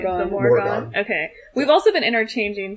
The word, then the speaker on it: Morrigan: how do you pronounce her name? The Morrigan.